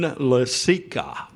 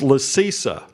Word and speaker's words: Lasica: had a player, Marin Lasica, or so I thought. Right before his last game, he comes up to me and goes, "You're saying my last name wrong. It's Lasisa."